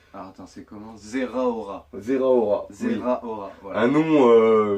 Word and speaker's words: Zeraora: Ouais, Un truc un j'avais peu, du mal à le prononcer déjà, moi c'était 0 Zéro 0 héros, que je disais. 0 héros, voilà. Donc c'est Zeraora.